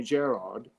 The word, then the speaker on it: Gerard: Because in England, they call me Gerard, and in Ireland, they say, which my dad was from Dublin.